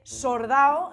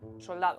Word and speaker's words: soldado: Otra cosa característica es que la L pasa a R. Se confunde la R con la L cuando está a final de sílaba. Se dice sordao en lugar de soldado. Soldado.